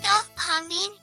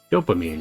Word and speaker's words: dopamine: I can't pronounce it. She capped on her screen. Dolphine. Dopamine.